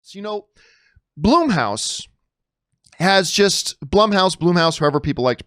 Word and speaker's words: Blumhouse: it's bloom house actually or our Blum house I'm pretty sure it's Blum house cuz it's Jason Blum and it's named after him and yet for some